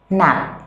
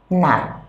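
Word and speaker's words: 낮: Nạn. Ban ngày. Nạn. Các bạn chú ý chữ chờ dưới theo quy tắc về bất quy tắc phát chim là chờ dưới chúng ta sẽ đọc một tờ.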